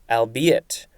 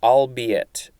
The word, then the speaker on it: albeit: a-l-b-u-s next we have albeit or albeit a-l-b-e-i-t this is a